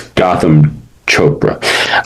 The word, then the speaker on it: Gotham Chopra: It's Gotham Chopra.